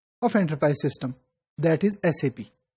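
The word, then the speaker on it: SAP: है कि एसपी generally some time people use the word सप यह सप नहीं है इट is pronounced as एसपी इट इज a German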